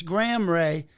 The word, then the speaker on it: Gram Rea: So it's Graham Ray, but it's GRAM because I was named after Graham Parsons. So it's like the unit of weight, and Ray is spelled REA.